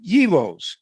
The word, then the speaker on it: gyros: that's fried no um heroes is how you say it okay heroes anyway remember